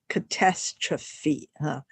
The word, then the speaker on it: catastrophe: is a little bit strange because you would pronounce it as catastrophe this p is pronounced Fe which is a